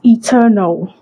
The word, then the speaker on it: eternal: Remove that first N and pronounce it as eternal. Eternal. Eternal life. I want to live eternal life. God save my soul. Not enter now.